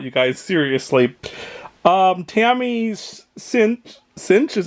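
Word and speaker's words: Sytch: good things about you guys seriously Tami's sint cinch is how you say her name sunny shoot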